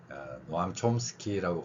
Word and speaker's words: Noam Chomsky: 노암 촘스키라고 발음하는데 현대 언어학에서 상당한 영향을 끼쳤죠.